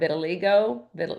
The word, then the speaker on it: vitiligo: Skin conditions like psoriasis or vitiligo.